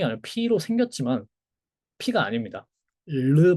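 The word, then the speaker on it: ρ: 르 발음이에요. 르. 그다음에 소문자는 이렇게 써요. 자, 그리고 이거의 발음은 제가 못 합니다. 제가 스페인어도 배웠지만이 발음을 못 해서 매우 수치스러워 했는데 R나 R 하나 다 약간 혀 이게 끝에서 트를 하는 거 있죠? 르 이렇게 르 하는 거 그 발음이에요. 사실은 원래는 그 발음이고 거기에 숨까지 섞어야 돼요.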